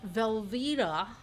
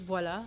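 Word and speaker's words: voilà: Velva. Wait, is that really how an American says voila? Velvita. The voila would be more like oi. Voila.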